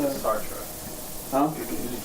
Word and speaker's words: Sartre: And you guys are familiar with Sartre? Existentialist, French. Usually pronounce it Sartre.